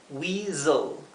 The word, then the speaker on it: weasel: Siguiendo la misma regla que vimos, la S está entre dos vocales, se pronunciaría z. Weasel.